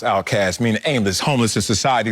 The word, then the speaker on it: Outkast: My favorite group is Outkast, pronounced Outcast, meaning aimless, homeless in society.